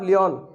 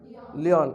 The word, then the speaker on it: Lion: ये तो ये तो बना हूँ, gulf of लियोन। Gulf of लियोन, लियोन की खाड़ी है। लायन वाली स्पेलिंग है, LION, लायन। Gulf of लायन या गल्फ ऑफ लियोन वैसे पढ़ा जाता है, गल्फ ऑफ लियोन।